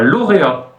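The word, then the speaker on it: lauréat: L par exemple un lauréa lauréa concours concour encore une fois en français on ne prononce pas le T à la fin en russe on le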